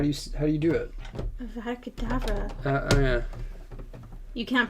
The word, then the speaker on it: Avada Kedavra: Is there a D? There's no B in there.